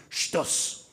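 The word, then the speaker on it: שטות: Shtut, or as the Ashkenazi pronounces a little bit nicer, shtus.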